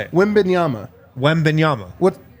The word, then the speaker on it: Wembanyama: So I want to get this right because I don't like people mispronouncing it. How do you say it? Wembanyama. Wembanyama. What? How am I wrong on this? Victor Wembanyama.